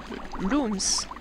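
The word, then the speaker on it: Lums: Why it is pronounced like looms? I don't know, it's... L... Ah, ils sont, je crois qu'ils sont là. It's L-U-M, but yeah, that's looms. That's strange.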